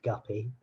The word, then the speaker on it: Guppy: going to get guppy so I changed it it probably would have been unlikely unless yeah my surname rhymes with puppy but uh yeah it